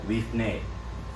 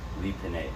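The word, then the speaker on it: לפני: bread bait lichen uh leaf nay leaf nay or you might hear some people pronounce it sometimes lipine but leafnay before or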